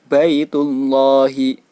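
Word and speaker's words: بيت الله: Cara membacanya yaitu baitullahi, baitu, baitullahi. Jadi tidak dibaca panjang. Baitullah, tidak dibaca demikian, melainkan tetap dibaca pendek seperti biasa.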